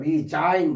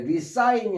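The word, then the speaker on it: resign: 이때리은 여기에 s가로 발음되고요. 리자인 그래 리사인이 아니라 리자인.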